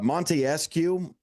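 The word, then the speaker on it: Montesquieu: apparent for that uh Monte escue is the pronunciation of that um uh that philosopher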